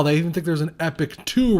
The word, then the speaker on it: Epoch: and yes it's pronounced epic I know it kind of looks like it's spelled Epoch but it's not I checked epic is